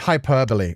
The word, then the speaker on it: hyperbole: Oh, h it's hyperbole. My As soon as you wrote that out, I was like, you're so right. Hyperbole. I've heard that pronounced before. I've never connected it to that word.